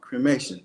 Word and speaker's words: cremation: rolls off the tongue cremation three syllables got nothing to do with cream nothing to do with